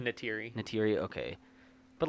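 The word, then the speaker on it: Neytiri: No, her character Nadiri. Natiri.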